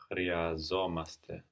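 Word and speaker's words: χρειαζόμαστε: Chryazomaste. Chryazomaste. So we have the accent on the ending here, no? Our ending is omaste, and we accent the beginning of it, chryazomaste.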